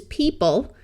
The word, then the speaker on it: people: EO has another sound in these two words the EO has a long e sound this is people this e doesn't do anything it's just there because every English syllable needs a written vowel and the word theory